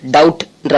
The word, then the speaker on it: doubt: DOUBT டவுட்ன்ற வார்த்தையில B silent, டவுட்னு உச்சரிக்கணும்.